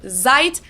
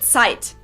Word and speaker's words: Zeit: z like z but the german set is a lot harsher it's actually pronounced like a ts so so this word is not pronounced or zeit but it's sight same goes for knowing